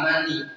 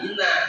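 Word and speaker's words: منى: Ini anak baca, dia bilang summa kharaja ila mani, dia bilang begitu. Salah toh. Kata guru, dulu salah baca summa kharaja ila mina, bukan mani baca.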